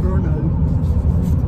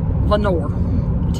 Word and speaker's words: Vonore: I would call it Verno. It's Vonore, Tennessee. So hopefully we have pronounced that correctly. So, and the man at Fort Loudoun told me how to pronounce it.